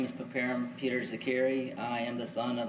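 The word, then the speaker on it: Zeqiri: My name is Papar Peter Zakiri.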